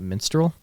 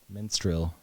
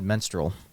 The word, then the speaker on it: minstrel: the word is spelled and the way you pronounced it immense Minstrel blood is it not Minstrel Minstrel well how did I say it menstrual I said menstrual another period blood yes that's period stuff we'll